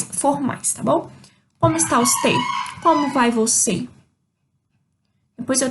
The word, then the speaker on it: usted: A primeira saudação formal que eu tenho, como está usted? Como está usted? Esse D no final de usted, eu não pronuncio, tá?